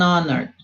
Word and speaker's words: honor: An honor, mesma coisa.